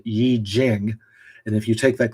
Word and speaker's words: I Ching: I Ching, or said properly, Yi Jing.